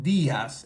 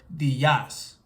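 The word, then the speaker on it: días: or e in Spanish it has an accent mark So this tells us that we have to stress this e when we are pronouncing it so Diaz instead of Dias Buenas Tardes Buenas Tardes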